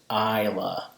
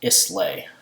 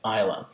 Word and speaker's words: Islay: This is pronounced Islay, not Islay. Okay, Islay.